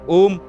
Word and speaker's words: ओम: आत्म अनुभूति होती है ओम शब्द तीन ध्वनियों से बना है जिसका उच्चारण एक के बाद एक होता है ओ उ म तीनों ध्वनियों का अर्थ